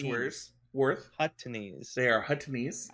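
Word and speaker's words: Huttese: They are Huttonese. I missed a syllable in there. You missed a lot of syllables. Hutties? No, Huttonese. Yeah, now you're doing it again.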